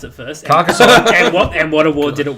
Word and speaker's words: Carcassonne: So, how do you pronounce it first? Carcassonne.